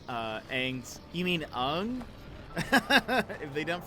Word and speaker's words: Aang: If they don't pronounce Aang's, you mean Ung? If they don't pronounce his name right, I'm done.